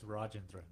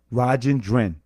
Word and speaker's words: Rajendran: I have to say, how do you pronounce your last name? It's Rajendran. Rajendran? Rajendran. That's right.